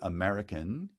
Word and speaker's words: American: the case of american the word american is stressed on the second syllable so the accent lands